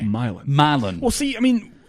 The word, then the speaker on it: Milan: What about the West Tennessee town Milan? I've never heard of that, actually. It's like the European town Milan. Right. Okay. But there they say Milan Really? with a long I. Milan.